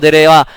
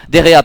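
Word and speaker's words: De Gea: de Pell sortie par derira dera pardon ça se prononce comme ça à la 8e minute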